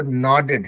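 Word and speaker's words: nodded: वो नॉडेड है, मतलब नाव वाला जोर से ना आएगा, उसके बाद नॉडेड, नॉडेड, नॉड करना जो होता है ना, जो सर हिलाना बोलते हैं इसको, है ना।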